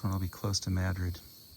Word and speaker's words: Madrid: That's when I'll be close to Madrid. Madrid, Iowa, it's spelled like Madrid, but pronounced in Madri.